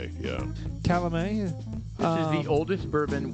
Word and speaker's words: Calumet: bourbon very good yeah Gary how do you pronounce that Calamine yeah Calamine which is the oldest bourbon we have ever